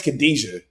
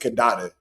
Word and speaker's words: Khadija: Then you got to remember, too, um her name is Khadija. The AI is pronouncing it Khadada.